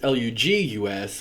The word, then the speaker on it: Lugus: They're all pronounced Lleu, except for that us at the end of the Gaul, Lugus.